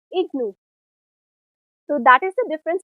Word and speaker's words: IGNOU: For example, IGNOU is pronounced as IGNOU.